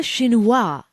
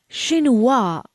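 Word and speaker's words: chinois: through the drum seeve this friends is a shinua it's a conical seeve with an extremely fine mesh did you get the pronce pronunciation right no don't worry let's say it again shinua great a cander is also a type of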